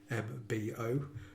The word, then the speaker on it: Brymbo: Brymbo, for those of you not familiar with it, spelled Brymbo, but pronounced like Brum as in Birmingham.